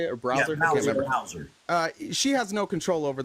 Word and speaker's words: Bowser: Yeah, Bowser.